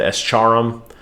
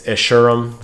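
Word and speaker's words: Escharum: do what's best um how do you pronounce essurem there it is i think i said it wrong last time i think i said s charum it's ishirum great there he is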